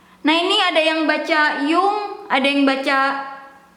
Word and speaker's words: Jung: Nah ini ada yang baca Jung, ada yang baca Yun, ada yang baca Yon, ada yang baca Yong. Terus ada yang bilang yang benarnya adalah Carl Jung gitu ya.